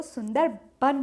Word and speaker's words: सुंदरबन: लेकिन बंगाल में व को ब प्रोनाउंस किया जाता है, इसलिए वो सुंदरबन हो जाता है।